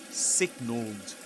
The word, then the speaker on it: signaled: But the thing is that in the word signal in the simple past you pronounce the ending the e ed ending as d like this signaled signaled and in pull